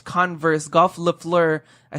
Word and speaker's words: Le Fleur: We're going to start off with me this week with the Tyler, the Creator, X Converse Golf Le Fleur.